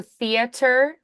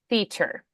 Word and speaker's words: theater: theater theater theat theer so we don't do theater we just do theater theater yep two syllables exct tickets to the